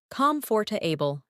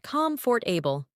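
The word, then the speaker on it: comfortable: Comforable, not comfort for able.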